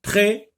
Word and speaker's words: prêt: Attention, là, la lettre S ne se lit pas, donc c'est une lettre muette. On ne l'a pas prononcée, donc on n'entend pas le son S dans le mot prêt.